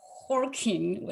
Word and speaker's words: Joaquín: Okay, next we have Horking. I learned to pronounce nice try. 10 minutes ago. Please start. Okay, thank you, Rosanne. Thank you, everyone, for listening. So my name is Joaquin Cabezas.